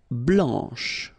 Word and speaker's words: blanc: Blanc, blanche, okay, so I wanted to put for each color the masculine form here and then the feminine form here, okay, so here, masculine, blanc, don't pronounce the final C, and then blanche.